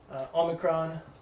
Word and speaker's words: omicron: Omicron, ah, Oh, as in not. Sounds almost exactly like alpha, ah, ah. Slight differences. Ah. But, yeah. Pronounce them the same way, it'll be fine. Not O.